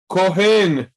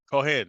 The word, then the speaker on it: Cohen: oh how do you say that is that kohen kohen okay priest right so Cohen can you see